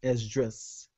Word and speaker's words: Esdras: That same prophet Ezra, the way you say his name in the Greek is Esdras. It's the same guy.